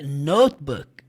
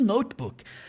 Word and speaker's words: notebook: lá no notebook mas saiba a pronúncia correta é notbook e significa caderno no inglês jamais chegue fora do Brasil pedindo um computador dizendo notebook as pessoas não vão te entender tá o computador portátil